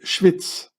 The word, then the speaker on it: Schwyz: In German you say Schweiz, but in Swiss German you say Schwyz, which means Schwester der Isis, Schwyz.